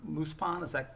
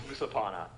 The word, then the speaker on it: Musapana: Muspan, am I pronouncing that almost correctly? Almost, yeah, it's Musapana.